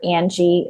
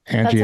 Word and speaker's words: Angie: was mispronouncing your name Angie okay people people do it all the time website say it sounds like here in spanish yeah then people are